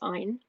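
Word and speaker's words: Ayn: say her name properly it's ein like in mine i've read her biography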